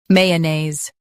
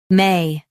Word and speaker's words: mayonnaise: Mayonnaise. Both US and UK have the same pronunciation of this word. Mayonnaise. Now read the syllables shown on the screen naturally. May-a-naise. Mayonnaise. Stress may and keep unaise smooth.